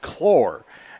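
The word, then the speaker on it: Claar: but it's uh as they told us it's pronounced chlor and so i do apologize for that on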